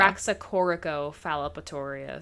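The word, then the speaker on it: Raxacoricofallapatorius: did I get it you were close raxa do you want to know yeah I want to know raxa corico phorus oh there was another syllable in there that's okay I know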